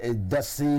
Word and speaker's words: Dassé: Dassé.